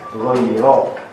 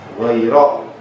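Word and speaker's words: غير: jalan orang yang tersesat, seharusnya kita membacanya ghairo. Siratal ladzina an'amta alaihim ghairo, bukan jalan orang yang tersesat. Ini kenapa dia ke i?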